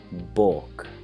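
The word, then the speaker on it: baulk: to them next one bork it's kind of funny spelling a ulk it's like bulk but we say bulk now we don't say the L sound so it's easy to forget that there's an L in there say if you were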